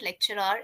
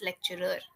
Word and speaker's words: lecturer: that I learned that it's not lecturer it's lecturer lecturer right how to pron lecturer lecturer lecturer right okay like when you look at this word e so we say photographer we say film maker so do you notice like a sound is there at the end e right so why do we say lecture are then I don't know